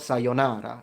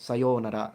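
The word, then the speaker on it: さようなら: By the way, on the word sayonara, it's interesting because, by the way, it's not sayonara, it's sayonara. The O is long.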